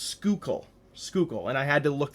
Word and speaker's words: Schuylkill: Now, that's a very unorthodox spelling, and however, it is pronounced Schuylkill, and I had to look that up just to make sure that I was pronouncing this right.